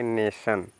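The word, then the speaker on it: nation: तो न तो क्या हो जाएगा इसको पढ़ेंगे नेशन क्या पढ़ेंगे बच्चों एन ए टी आई ओ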